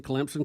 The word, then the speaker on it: Clemson: getting on you but you're pronouncing clemson correctly just like a telemarketer calling you by the wrong name we can always tell someone doesn't know clemson when they try to pronounce it without the p that's right so they're